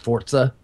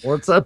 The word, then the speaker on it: Forza: I was playing Forza Horizon 2.